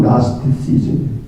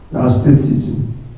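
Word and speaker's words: Gnosticism: 영어로는 나스티시즘, G자는 발음을 하지 않아요. 나스티시즘.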